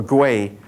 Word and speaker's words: gui: and become a gui, this is pronounced as a G, a gui, a hungry ghost.